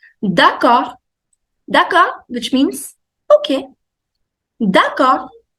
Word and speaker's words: d'accord: D'accord. D'accord. D you don't pronounce, the last D. D'accord.